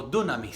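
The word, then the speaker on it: δύναμις: En el hebreo lo conocemos como este dinamis o dunamis se pronuncia y esto es poder.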